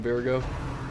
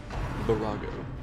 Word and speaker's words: virago: go all in on virgo or virago it's pronouncing that wrong for the longest time apparently virago so the mark on